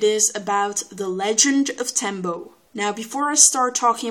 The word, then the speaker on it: tembo: you two hints one tembo rhymes with dumbo and second of all